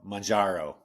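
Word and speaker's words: Mounjaro: Majaro is how you say it.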